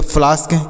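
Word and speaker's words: flask: एल ए एस के इसे हम पढ़ेंगे फ्लास्क क्या पढ़ेंगे फ्लास्क एफ एल ए एस के तो एफ ए के बाद एस के है तो इसका उच्चारण आ की मात्रा कर दिए ए के बाद एस के है तो इसका उच्चारण आ की मात्रा कर दिए हैं किसका उच्चारण ए का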